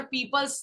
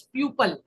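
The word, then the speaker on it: people: टू पीपल are, remember पीपल्स नहीं होगा, पीपल होगा। ठीक है, और एक और मिस्टेक जो नॉर्मली स्टूडेंट्स करते हैं, दे प्रोनाउंस एज प्यूपल। प्यूपल कोई वर्ड नहीं होता, याद रखिए।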